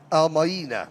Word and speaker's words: Al-Maina: Ma'ina, how do you say that? Is it Almina? Al-Maina. Al-Maina. Yeah.